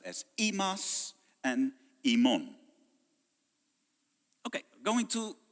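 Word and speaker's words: ἡμᾶς: of 4th century speaking, both would be pronounced imas. The upsilon and the eta both become the e sound, as it is in modern Greek as well.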